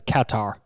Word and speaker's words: Qatar: the confusing part is everyone says you know it's pronounced cutter it's cutter it's cutter so i got used to saying qatar but then there are